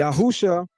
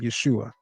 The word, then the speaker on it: Yeshua: Yahusha is an incorrect pronunciation because it violates every principle of biblical Hebrew grammar that governs the name Yeshua and its older form Yehoshua.